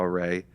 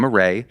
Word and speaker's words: Arey: At the time, it was derived from the French word arrêt, to stop. And so we had spelled it differently, closer, to phonetically to how it was there. And then we were like, wait, Arey gray.